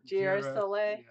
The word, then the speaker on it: girasole: Girasole. You don't have a J in Italian, but a G sounds like a J.